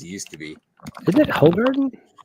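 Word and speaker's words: Hoegaarden: good as it used to be is it hog Garden it's h Garden because it's okay if you say it like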